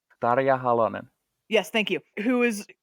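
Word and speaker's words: Tarja Halonen: I'm gonna get this I'm gonna get this name wrong Targa alonein Dada ya Holloman yes thank you who is who's a redheaded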